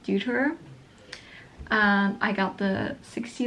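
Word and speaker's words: Deuter: Uh the German way to pronounce it is doer. I think in English it's like duter.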